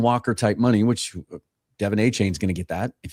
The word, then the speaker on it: Achane: He changes his pronunciation like every couple months, so I think it's Achane. That's what I've kind of adjusted myself to saying.